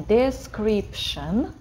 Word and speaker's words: description: Я вот вам сейчас напишу слово description в комментах. Давайте его скажем description. Шн, это вот это T-I-O-N в конце, тион, это шн читается, description.